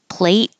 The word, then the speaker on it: plate: on my plate and this final tea you won't hear at all because you're holding the tea and not releasing the air so plate and play will sound exactly the same because you won't hear